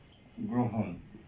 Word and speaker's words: গ্রহণ: তারপরে হচ্ছে গ্রহণ, এটার উচ্চারণটা হবে গ্রহণ।